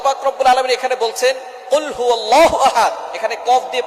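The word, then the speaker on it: قُلْ هُوَ: আল্লাহ পাক রাব্বুল আলামন এখানে বলছেন কুলহু আল্লাহু আহাদ। এখানে কফ দিয়ে পড়ছেন কিন্তু অনেকেই ভুল করে উচ্চারণ সঠিক না হওয়ার কারণে তারা পরে কাফ দিয়ে। কুলহু আল্লাহ।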